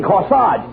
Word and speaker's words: corsage: You mean corsage. A-G-E is pronounced arge, as in corsage and garage.